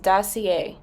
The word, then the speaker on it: Dossier: please excuse my ignorance it is pronounced dossier i got two different